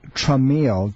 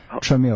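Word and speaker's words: Traumeel: would be something called tramil t r a u m e e l tramil it's a homeopathic let me write that down can you spell it again it's like trauma t r a u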